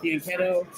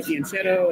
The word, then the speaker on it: fianchetto: I like to call it fianchetto. You'll hear Nakamura say fianchetto, and you'll hear Hans Moltov pronounce it a little different.